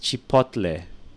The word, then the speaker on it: chipotle: All right, and that one sauce, it's pronounced chipotle, which a lot of people pronounce wrongly.